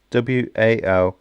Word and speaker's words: Walmington: Hopefully I'm pronouncing that right. It's Walmington and then on sea.